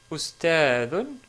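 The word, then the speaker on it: أستاذ: Deuxième mot, ustadun ou ustad, si on s'arrête sur le mot.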